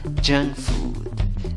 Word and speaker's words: junk food: Mira, en la primera palabra tienes una N, pero en la pronunciación tienes una N con cola. Eso es como la mezcla de una N con una G. Y en la segunda palabra van 2 O's, doble O, pero la pronunciación va con una U larga, con los 2 puntitos, U larga.